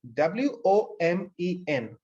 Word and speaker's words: women: word is very interesting look at the word w-o-m-e-n women you pronounce this woman you pronounce the letter o as e then the letter e as e uh earlier you have